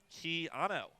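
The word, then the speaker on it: Quijano: edge on the competition pronounced keano like keano Reeves all right I'm done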